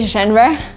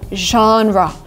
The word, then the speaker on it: genre: I know a lot of people say genre which is again kind of logical when you try to read the word but because it's a foreign word we say genre genre outselling every genre